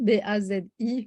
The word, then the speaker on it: Bazi: s'écrit, ouais, et ça s'écrit Bazi, B-A-Z-I, mais ça se prononce pas Pazze en chinois.